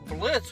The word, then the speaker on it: Blitz: I'm Blitz. But O is silent.